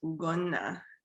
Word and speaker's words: Ugonna: My middle name is pronounced Ugonna, and my last name is pronounced.